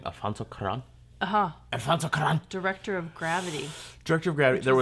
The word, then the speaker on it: Alfonso Cuarón: Alfonso Cuarón.